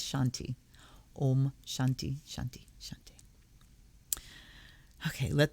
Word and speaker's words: shanti: part am shanti shanti no it's not a shanti it's shanti om shanti shanti okay